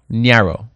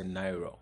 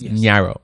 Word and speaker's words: Nyiaro: for me S nro Naro yes did I say it right most people will say nairo n but most people say nairo but it's Naro Niro yes Naro okay